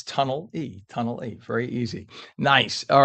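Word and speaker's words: Tonnelle: It's Tunnel E.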